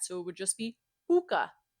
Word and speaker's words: Pooka: Not only is Puka not pronounced cutely in Russian like that, our vowels are very flat, so it would just be Puka, Puka.